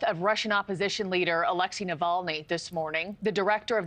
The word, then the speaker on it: Navalny: And I believe the report goes on to say that over 300 supporters of, how you say his name, Navali, has been arrested as they're protesting. Navalny.